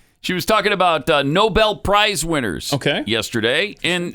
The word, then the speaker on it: Nobel: these people are embarrassing come on Noble it's no bad are you serious you are the White House Press Secretary you don't know how to pronounce Nobel Prize Nobel really you don't know